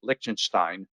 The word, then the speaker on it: Liechtenstein: The countries to be concerned about are the other European countries: Switzerland, Iceland, Norway, Liechtenstein. Assuming I pronounced that properly.